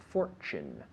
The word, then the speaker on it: fortune: us a Fortune of Fortune remember that Tu sound Fortune to you Fortune not Fortune but